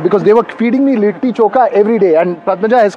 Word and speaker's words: Litti Chokha: They Patna, told me I'm their South Indian damad, because they were feeding me Litti Chokha every day. And Padmaja has corrected that it has to be Litti Chokha, not Litti Chokha.